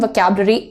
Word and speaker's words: vocabulary: vocab, तुम्हारा जो emphasis है वो इस पार्ट पर पड़ेगा, इस पर नहीं।